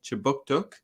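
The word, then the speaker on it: Kjipuktuk: But before we begin, I'd like to acknowledge that Right Start Newcomer Services conducts business in Chibuktuk, which is how you say Halifax in the Mi'kmaq language.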